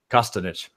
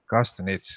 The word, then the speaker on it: Costanich: Costanich. Costanich, okay.